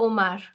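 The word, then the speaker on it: homard: it is Ash aspir the owls the lobsters here L Omar so the D here is silent okay L Omar so again aspir but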